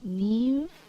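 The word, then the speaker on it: Niamh: First name, Neve. Uh, no, that's not how you spell it. It's N I A MH.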